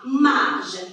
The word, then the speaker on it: marge: La marge. Regardez bien comment ça s'écrit. Le J, elle est suivie de la voyelle E.